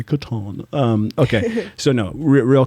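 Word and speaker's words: Catan: we edit a tan is it Katana Katan it's Katan even though he mispronounces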